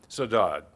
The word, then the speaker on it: Saudade: Her novels include Saudade, how do you pronounce that? Saudade, considered the first contemporary novel about Portuguese Americans